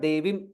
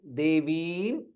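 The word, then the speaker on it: देवीम्: Devim. V is Dirgha. It is not Devim. Devim.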